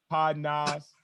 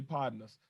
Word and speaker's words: Podnas: partners like you know people for some reason just can't say pardon us so um if you wonder how to say it you said like you know i'm not partners man just pardon this man like a pod nas